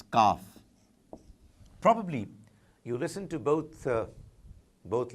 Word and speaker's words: Qaf: There is this special sound coming from inside the throat for Qaf, which is not exactly what is needed in this case. Kaf. You really are relaxed when you're reciting, so when you're pronouncing Kaf, but not quite as much when you're doing Qaf.